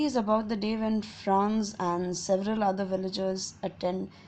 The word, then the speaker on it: Franz: This story is narrated by a boy named Franz. It actually means a boy's name. It's just like how we pronounce France.